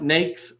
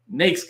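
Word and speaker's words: NAICS: a really important one used multiple ways it's pronounced nakes no other way nakes code like snakes and then the PCS is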